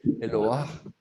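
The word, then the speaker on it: אלוה: Attention, ce n'est pas Eloah, c'est Eloah. Eloah. On entend le He final, et en plus, il est patar.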